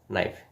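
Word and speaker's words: knife: তো আপনারা মনে রাখবেন যে ছোটো রুলস, সেটা হচ্ছে কে এবং এন যদি শব্দের প্রথমে একসাথে থাকে তাহলে সেখানে কে এর উচ্চারণ হবে না, কে এর উচ্চারণ হবে না, কে বাদ দিয়ে উচ্চারণ করতে হবে।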